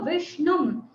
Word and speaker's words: విష్ణుం: ఒకవేళ మీరు పట్టుకోగలిగితే ఎక్కడన్నా, మరాఠీ వాళ్ళు బాగా అంటారు దీన్ని షా. సో విష్ణుం ఇది అనేటప్పుడు కొంచెం కష్టంగా ఉంటుంది, కానీ ఒక క్షణం ఆగి అంటే అదే అన్ని చోట్ల టెక్నిక్. మనకి ఉచ్చారణ కరెక్ట్ రావాలంటే ఎప్పుడు ఒక క్షణం ఆగి అనాలి.